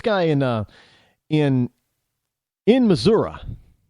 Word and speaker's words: Missouri: in uh in in Missouri how I understand they pronounce Missouri it's not Missouri there's no a at the end it's an I but Missour I hope I pronounce that